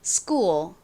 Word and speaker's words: school: 그러니까 크가 아니라 끄 소리가 나요. 연결해서 빠르게 발음을 하면요. school, school 이렇게 발음이 납니다.